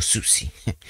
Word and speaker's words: Siouxsie: Bueno, se escribe Siouxsie, pero es para pronunciarlo Susie. Susie Medley, que debe ser su apellido artístico.